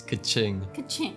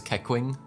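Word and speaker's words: Keqing: pronounce this name cake it's kaching oh yeah when i first played the game i thought it was kekwing because i didn't know the pronunciation oh yeah she says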